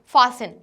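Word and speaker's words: fasten: देन उसके बाद फासन, तो फासन में हमारा टी साइलेंट लेटर है, क्या है हमारा प्रोनाउंसिएशन, फासन।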